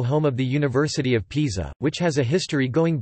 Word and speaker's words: Pisa: Pisa, Italian pronunciation, Pisa, Pisa, listen, is a city in the Tuscany region